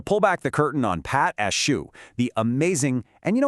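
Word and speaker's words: pâte à choux: Okay, so pate a choux, and you say it like pot a shoe, literally translates from French to cabbage paste.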